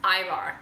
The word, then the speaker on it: Ivar: June, I think it's pronounced Ivar? Ivar, like eyeballs.